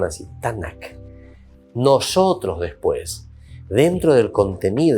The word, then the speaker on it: Tanakh: Ellos pronunciaban así, Tanakh.